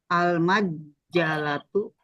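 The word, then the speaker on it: المجلة: Kalau jimnya bertasdid, kira-kira bacanya bagaimana? Kalau jim yang bertasdid. Dimatikan terus dibacakan lagi, Pak. Ayo, bagaimana prakteknya? Al-majalatu Oke, bagus.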